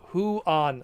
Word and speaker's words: Juan: Juan is pronounced Huan.